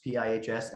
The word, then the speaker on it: Pihs: uh ship spell backwards pihs and then it's pronounced peas like the vegetable and you have to